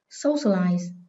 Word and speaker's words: socialize: Socialize. Từ này có hậu tố là ice, trọng âm dịch chuyển 3 âm tiết từ cuối lên.